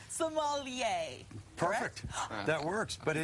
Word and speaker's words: sommelier: with the most asked question how do you pronounce s o f f e l i e r Somalia perfect that works but in the end but